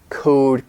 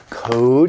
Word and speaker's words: code: code, codify. Code, that's an O, long O, code.